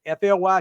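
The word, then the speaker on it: Flythe: And it's F LY T, not F L Y. F L Y T H E. So, it that's where I'm from in the south. It's that's pronounced fly. The th is silent.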